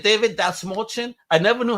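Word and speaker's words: Dastmalchian: He goes, that small chin, and that's how you pronounce my name.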